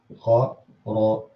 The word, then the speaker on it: خرجوا: This alif, first of all, is not pronounced. If you open your mushaf, you're going to find a small Arabic 5 on top of it. It's only there out of convention. It's called يعني alif الجمع, that whenever you have a plural verb, you always have an alif at the end of it out of convention, but has no impact in terms of pronunciation.